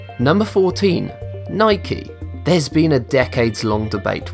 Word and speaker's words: Nike: Surprisingly, Philip Knight returned the letter having circled on Nike, bringing to an end the debate, and thus it's become official that Nike rhymes with spiky.